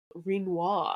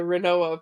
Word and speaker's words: Rinoa: of effect damage will kill rinoa I hear is how you're supposed to pronounce her name oh that's how you pronounce yeah I was a renoa person of course but I I've recently heard it's supposed to be like quinoa so whatever but you